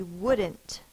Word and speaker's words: wouldn't: and not will be wouldn't wouldn't W W uh is spelled o u in this word d but we have a l over here it's a silent L to go with the